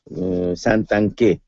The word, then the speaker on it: Santanchè: l'italico di renzi cana santanchè con l'accento sulla e poi vediamo zingales premier